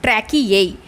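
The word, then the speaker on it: tracheae: क्योंकि लास्ट में यहाँ पे एक ई है, इसका प्रोनाउंसिएशन ट्रैकिए बन जाता है और ये ट्रैकिए इंसेक्ट्स में प्रेजेंट होता है.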